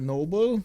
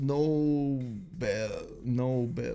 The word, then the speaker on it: Nobel: Alfred Noble, yes. It's pronounced Nobel.